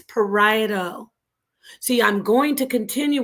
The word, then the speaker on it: parieto: It's not parieto, it's parieto.